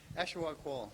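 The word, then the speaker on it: Ashawagh Hall: Ashwag Hall. Yeah. Ashwag Hall. Yeah. Oh, that's what the locals say.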